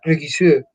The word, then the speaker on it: Regisseur: decir director de cine, pero no se pronuncia como si fuera una palabra alemana, sino que creo que es del francés. Entonces suena Regisseur, der Regisseur ¿ya?